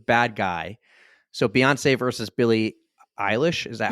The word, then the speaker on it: Billie Eilish: So Beyonce versus Billie Eilish.